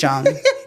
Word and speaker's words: Jung: Or is it Jung? It's Jung like jungle. Okay, like it's spelled.